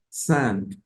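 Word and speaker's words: cinq: Ah voy a revisar la in en francés suena a entonces voy a decir sang sank antes de arriesgarme a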